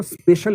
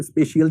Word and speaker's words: spatial: एक शब्द स्पेशल intelligence. अब देखो असल में स्पेशल स्पेशियल शब्द है और उसमें कई लोग उसके उच्चारण के वैसे गड़बड़ करते हैं।